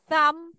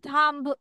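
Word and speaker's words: thumb: লাস্টে তোমার এমবি থাকলে লাস্টে তোমার কি থাকলে এমবি তখন তোমার বি সাউন্ডটা হবে না সাম আমরা বলবো থাম্ব থাম্ব বলবো না সাম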